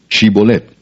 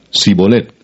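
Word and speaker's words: shibbólet: Si él respondía no, entonces le decían, "Ahora pues di shibolet." Y él decía sibolet porque no podía pronunciarlo correctamente.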